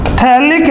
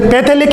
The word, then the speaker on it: phthalic: ये PH बेटा यहाँ पे साइलेंट रहता है, इसे पैथेलिक एसिड नहीं बोलेंगे बेटे। इसे क्या बोलेंगे, पैथेलिक एसिड नहीं बोलेंगे, इसे बोलेंगे थैलिक एसिड, थैलिक अम्ल इसको बोलेंगे।